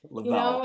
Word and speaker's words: Leavell: Leavell. It just kind of rolls off the tongue. I always tell people when they can't spell it that it's leave with 2 L's on the end, and people are like, oh yeah, that's great.